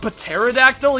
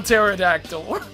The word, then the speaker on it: pterodactyl: so Harper it's here because I know the P is silent I just always say it because I'm A ding-dong um so let's go find this toy terror attacks no I'm fine taipa pterodactyl you big meanie whoa